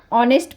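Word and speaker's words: honest: से हो रहा है ऑनेस्ट नेस्ट तो नहीं पढ़ते हैं ना ऑनेस्ट पढ़ते हैं तो ऑनेस्ट होने की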